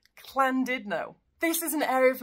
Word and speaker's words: Llandudno: with this one, because in Welsh, this one's pronounced Clandidno.